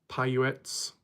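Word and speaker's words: Paiute: Uh Puetses. Natives. Indians. their knowledge of the land not willing to open up. Pyuets.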